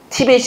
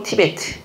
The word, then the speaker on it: 티베트: 티벳이 아니고 티베트.